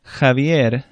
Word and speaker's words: Javier: J sounds like an English H almost. It's not quite as far back in the throat. Javier, vejiga.